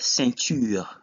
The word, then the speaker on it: ceinture: The second example is the word ceinture, which is belt. In this case, EIN is pronounced un.